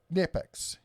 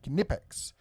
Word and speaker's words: Knipex: It's almost like a quiet K. It's not a silent K. It's a quiet K. Knipex.